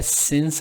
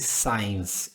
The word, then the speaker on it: since: A pronúncia disso aqui é since, ao invés de science.